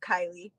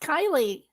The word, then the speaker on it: Karleigh: Her name is pronounced Kylie. Did I say Karleigh? Oh, I'm sorry. Kylie. Sorry. Oh, you guys. It's pronounced Kylie. But it's spelled Karleigh.